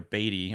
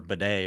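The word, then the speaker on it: Badie: JK Dobbins is the clear-cut starter and they're getting Tyler Batty or Beday or however that he wants to explain say his name. Um I think it's Beday which is crazy.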